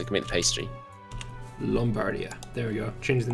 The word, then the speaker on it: Lombardia: Also, Lombardia is pronounced with an O. It produces wheat as well, so it can make the pastry. Lombardia.